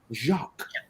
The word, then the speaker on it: Jacques: That famous program, you spell it J-A-Q or J-A-K-Q, but you pronounce it Jacques, like the French.